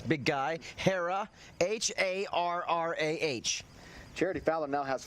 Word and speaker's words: Harrah: That foul, it's the second foul for Daniels, the junior from Harrah, Oklahoma. Now that's easy to pronounce, big guy. Harrah, H-A-R-R-A-H.